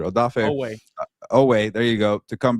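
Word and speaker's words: Oweh: I butchered Odafe Owe.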